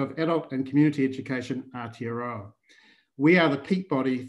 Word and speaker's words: Aotearoa: And now, correct me if I'm wrong in pronouncing this, Colin, it's Aotearoa? Aotearoa.